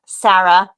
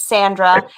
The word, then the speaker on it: Sandra: It's not Sarah. It's Sandra.